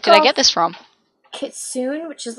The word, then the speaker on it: Kitsune: Kitsune, which is like a fox. Yeah, it's actually Kitsune. That's how you should pronounce it.